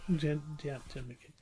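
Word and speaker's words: Jed MacKay: The writer is Jed McKay? No, yeah, you said it right. Jed McKay.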